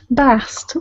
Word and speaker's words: Bast: Bast. That is the feminine pronunciation.